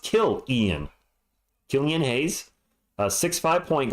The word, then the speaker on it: Killian: just started playing in 2021 Killian oh it's pronounced kilan Killian hay a 65 point guard all right